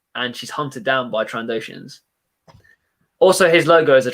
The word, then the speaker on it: Trandoshan: new subscriber 55 minutes ago, Transocean Bricks.